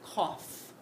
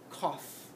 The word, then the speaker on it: cough: here's another one now you would think oh these must rhyme rough tough cuff right wrong this makes a lot of sounds this o u g h this is the word cough cough the last one we're